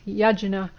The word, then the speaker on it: yajna: The Sanskrit word for sacrifice is yajna, which is a word of 2 syllables, ya and jna.